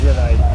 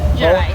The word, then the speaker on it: Gerais: Gerais. Gerais.